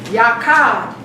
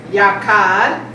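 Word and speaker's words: yachad: The word unity is a Hebrew word yakad.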